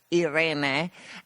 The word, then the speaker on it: Irene: So she contacts me, and we normally speak in Italian, and her name is Irene, but in Italian it's pronounced Irene.